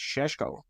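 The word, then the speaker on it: Šeško: like this H Moz it's pronounced in the in the style of your compatriot Sean connory apparently it's shesko apparently that's the you know his local pronunciation but um I really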